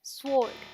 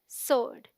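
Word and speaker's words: sword: मतलब होता है तलवार the wrong pronunciation is स्वर्ड because people pronounce the verse साउंड which is not there जो वहां है ही नहीं because the डब्लू is silent so it sounds like सोर्ड एज इन लोर्ड सो the right pronunciation is सोर्ड से it again सोर्ड good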